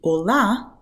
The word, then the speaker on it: olá: So when you say 'olá', not only the letter 'a' here is the strongest letter and the one with the most emphasis, but it's also open, it's an open sound.